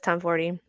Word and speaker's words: Tomforde: because I thought the E was silent, it is not, which I kind of love. But Liz Tomforde, the woman you are, by the way.